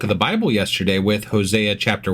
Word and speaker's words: Hosea: So, I That was uh Hosea chapter 1. God damn it, I almost said his name wrong again.